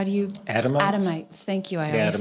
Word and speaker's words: Adamites: thinking of um the the you the Adam adomite what how do you adamites thank you I always say it wrong and